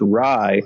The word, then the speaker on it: Ray: I guess it's pronounced Rai. Is it R-A-I? And no, it's R-A-Y.